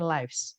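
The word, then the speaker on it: lives: Kata Lif itu ya ini bacanya bukan Lif juga teman ini bacanya Liv ini bentuk jamak dari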